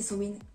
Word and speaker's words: Samhain: Mais du coup, mon sabbat préféré, c'est Samhain ou Samhain, ça dépend comment on le prononce, qui pour le commun des mortels, c'est Halloween.